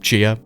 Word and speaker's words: Xia: is next and it's spelled xia but I think it's pronounced Chia so just bear with me